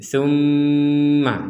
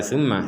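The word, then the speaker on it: ثُمَّ: berhenti sebentar di sini ada mim bertasydid kita mendengungkannya atau kita membacanya dengan dengungan dengungan artinya di rongga hidung kita itu berdengung tumma jadi tidak sekedar tma tma tumma gitu harus ada dengungan yang letaknya di rongga hidung kitaumma jadi dengung kemudian diberi jeda waktu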